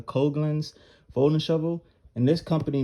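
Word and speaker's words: Coghlan's: a coke i've got you pronounce this i think it's a coglins folding shovel and this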